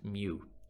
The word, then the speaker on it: mu: mean is represented by that u symbol which is pronounced mu so like we said